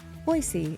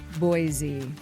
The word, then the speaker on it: Boise: transplanted here and still refuse to pronounce Boise, Boise, and they keep saying Boise.